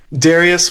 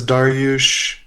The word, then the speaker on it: Darius: There's no official pronunciation. Oh, how do you pronounce it? Darius works. My mother says Dar-yush.